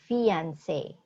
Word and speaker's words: fiancé: Fiancé, long A. So, fiancé.